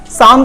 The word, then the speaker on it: Psalm: साम का मतलब क्या होता है? देखिए यहाँ पर P साइलेंट है, इसे साम पढ़ेंगे।